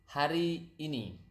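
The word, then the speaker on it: hari ini: that's yesterday now today today is har ini har basically mean day and ini is this so har ini is actually day this or today this day right so again today is har ini har ini okay har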